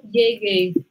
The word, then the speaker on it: llegué: Entonces, fijaos con la pronunciación, fijaos con la entonación, con la tilde que cae en la E aquí.